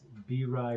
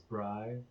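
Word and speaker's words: Bri: I did start a Sims character named B-Ry Broham, and it's spelled B-R-I, and people will mispronounce it as Bry, but he likes to explain that it's pronounced B-Ry.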